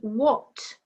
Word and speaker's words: what: Number 3, what, silent H.